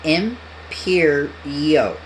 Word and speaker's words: Imperio: Pronounced as Imperio.